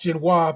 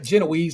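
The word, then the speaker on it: génoise: it's gonna be a genois sponge which shabir pronounced ginoa because that's how you pronounce it not jise like the rest of them fers be saying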